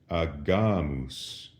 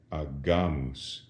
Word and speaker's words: agamus: But with an A, the G goes back to being a hard G, agamus.